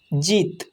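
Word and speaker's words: জিৎ: জিত বর্গের জ হস্যই খণ্ডিত জিত, অর্থাৎ বর্গের জয়ের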